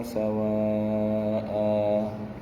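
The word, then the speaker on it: سواء: Waddu law takfuruna kama kafaru fatakununa sawa'a. Perhatikan cara bacanya ya. Sawa'a, hanya dua ya.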